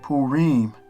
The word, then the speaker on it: Purim: So Purim, and then it has the pronunciation of it, how you would really pronounce it. So it would be Purim, which is pretty cool